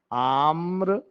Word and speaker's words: आम्र: कुंज बोले हैं आम्र देखो अगर जब यह र लगाते हो ना यह वाला र तो यह जो है ना जिस पर लगा है उसके बाद इसका जो है ना उच्चारण होता है आम्र और अगर आपको इसमें ऐसे लगा दोगे ना तो ये आर्म हो जाएगा समझ में आया बात